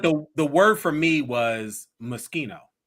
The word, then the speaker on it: Moschino: I didn't really gays, but the word for me was Moschino. How were you pronouncing it? Maraschino. Baby, you have added extra consonants. Extra letters.